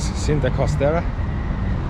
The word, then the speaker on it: Cinta Costera: This is Cinta Costera. That's how you pronounce it.